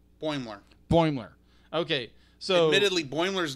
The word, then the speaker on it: Boimler: I'm not pronouncing your name. Mariner? Mariner. Mariner and what's the guy's name? Boimler. Boimler.